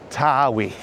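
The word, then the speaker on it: Tawe: So, this is the river to uh I think locally it's pronounced Tawi.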